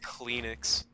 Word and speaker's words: Kleenex: Kleenex. Clean. Kleenex. It's like the X. word clean and then X.